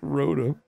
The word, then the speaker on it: Rotom: Pronounce it like Rotom. Yeah. That's exactly right.